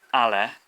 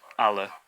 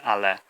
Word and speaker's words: ale: So the last sound is an e, or written as an e, pronounced e. An English person would be tempted in fast speech to say ale, which is it's actually quite different to what it should be, ale.